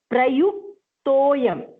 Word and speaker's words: प्रयुक्तोऽयं: And prayuktoyam. Prayuk, first stop, yuk. At ik, toyam. To is long.